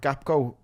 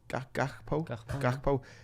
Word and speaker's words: Gakpo: Like Gakpo. Is that how you say it? Gakpo.